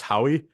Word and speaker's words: Haughey: have Bill and Alexis Howie am I saying that right is is your name pronounced uh it's like he backwards thank you thank you